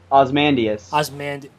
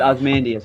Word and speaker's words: Ozymandias: Ozymandias. Ozymandias. Yeah. Did I just pronounce it wrong? It sounded like you said his first name and last name. Ozymandias. No, it's Ozymandias.